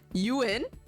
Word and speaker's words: Ewan: one by the way oh that's how you say it you win that is an interesting